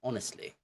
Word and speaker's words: honestly: because that's wrong okay it's honestly Silent Age okay so method five